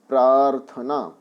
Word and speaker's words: प्रार्थना: प्रार्थना अब इसमें देखिए अधिकतर बच्चे रखा और लगाना भूल जाते हैं और इन देते हैं प्रार्थना प्रार्थना गलत शब्द है आप ध्यान रखेंगे प्रार्थना तो इसका जो रख यार है उसका उच्चारण क्लियर होना चाहिए प्रार्थना अब बताएं यहां पर